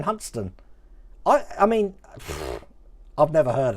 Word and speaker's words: Hunstanton: Yeah, well, like Hunstanton being Huntston.